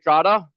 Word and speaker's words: Trada: My name is Trada. That's pronounced like Prada with a T and without the money.